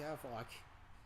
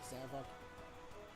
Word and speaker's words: Zavok: Hey, Zavok. Your name rhymes with Havoc for a reason, doesn't it? Savoc.